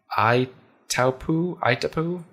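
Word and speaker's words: Itaipu: so one is the uh uh if to pronounce this correctly IU iapo i t a i puu it's a hydroelectric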